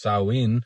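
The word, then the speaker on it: Samhain: Later on, this date was adopted and blended with some cultural practices from Celtic regions like Sam Hayne, pronounced sawin, which marked the end of the harvest.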